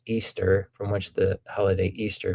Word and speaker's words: Ishtar: There is also the mention of Ishtar, which is pronounced Easter, from which the holiday